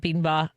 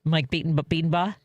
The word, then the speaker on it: Bedenbaugh: Well, Mike, we've been talking to Mike Bedenbaugh, because I believe I said it wrong the first time I heard you say your own name. It's Mike Bedenbaugh. That's it.